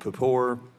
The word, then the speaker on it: Papour: Our next witness is Mr. Raymond Papour. Is that the correct pronunciation? Yes, it is, Mr.